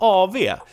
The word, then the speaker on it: AW: Like AV is the short AW in Swedish. We say AV for in abbreviations. We pronounce the W as V and not W, which is weird, but we do that.